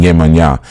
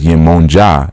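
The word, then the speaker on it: Yemọja: You can't even pronounce the word right. You're still saying Yemanya. And then when somebody says Yemonja, you're like, huh?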